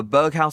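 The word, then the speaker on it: Berghuis: an eight-tier chord uh Berg house I believe is how you say it lean body type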